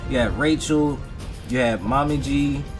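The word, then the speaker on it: Momiji: You had Rachel, you had Mommy Gi, that's how you pronounce her name, Omiji, and you had Yane.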